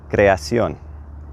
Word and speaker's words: creación: And then we're going to put an accent over the last O. That's going to tell us to put the emphasis right there in the word, okay? So creation becomes creación.